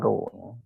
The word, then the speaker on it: rho: Nah, ini bacanya rho.